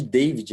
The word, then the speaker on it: David: chamou de Davi né Depois que eu fui entender que o demônio no final muda a pronúncia né então se você for pegar literalmente meu nome é David mas ninguém me chama de David minha mãe não chama meu pai não chama então é Davi é mais um comando